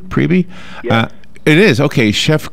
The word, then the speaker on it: Priebe: Is it pronounced Priebe? Priebe? Yeah. It is. Okay. Chef Craig Priebe, good morning.